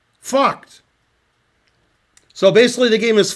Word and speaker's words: Vogt: Okay, here we're starting at the end of the game, and if I pronounce the last guy's name correctly, it's Lothar Vogt. Vogt.